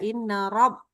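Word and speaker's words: رب: Rnya rabbinya ro. Ro mulutnya jangan ro ya. Inna rab. Innabbi lagfurur rahim. Bagus. Masyaallah. Tabarakallah. Oke. Ingatnya justru huruf r-nya aja ya. R-nya jangan dibaca dengan ro.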